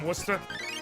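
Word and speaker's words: Worcester: Massachusetts the blackard from wora yeah except it wouldn't be blackard it'd be the blacked from wer the bled from wer can't smoke in here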